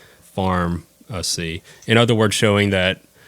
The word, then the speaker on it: Farmacy: spell it in the traditional way but we spell it uh f a r m a c y Farm see in other words showing that food is medicine